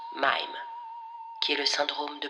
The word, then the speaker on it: Mhyme: irene est atteinte du syndrome de mine se prononcent mayme qui est le syndrome